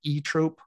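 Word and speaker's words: Zoetrope: band actually pronounces it e Trope silent Z at the beginning sure okay I can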